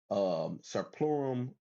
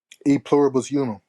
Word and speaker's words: E pluribus unum: Let's see what God says about their slogan, Serplurum, how you say it, A plus? E pluribus unum.